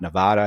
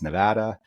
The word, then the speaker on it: Nevada: And so a lot of this is researching in advance how to pronounce things and making notes for myself. I apologize. It's not Nevada. It's Nevada.